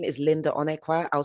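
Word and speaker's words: Onuekwa: My name is Linda Onqua. I'll spell that for you.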